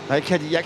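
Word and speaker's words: Cadillac: Perez et Valterry Botas Kadillak c'est bien français hein le nom on prononce à la française parce que c'est un petit gars qui vient de France qui vient à côté de de Toulouse.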